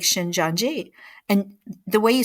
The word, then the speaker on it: Shincheonji: they use the Bible you know just like shin janji and the way you spell it if you want to look it up